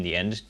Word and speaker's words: thee: with an N in the end to actually signal that it is a plural. The T. De thee. With an H, quite important. You don't really hear the H, but it definitely is there.